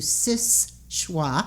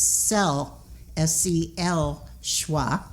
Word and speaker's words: Seul Choix: changed the name to sis schwa right and i go by the original french pronunciation which is cell s-c-l schwa which means single choice